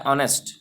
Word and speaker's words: honest: अब स्पेलिंग तो आई है एच, लेकिन उसका प्रोनाउंसिएशन हो रहा है ऑनेस्ट।